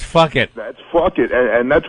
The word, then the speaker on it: Phuket: They say Phuket on the news, but it's spelled Phuket. And if you ask me, that's fuck it.